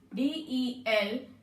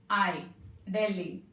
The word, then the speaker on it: Delhi: In Delhi, H is silent, children. Delhi. Delhi.